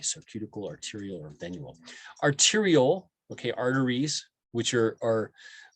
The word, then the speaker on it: arteriole: don't we say venue arteriole o-l-e or tyra ewell we don't say ule i don't know why